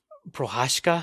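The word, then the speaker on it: Procházka: Prohashka.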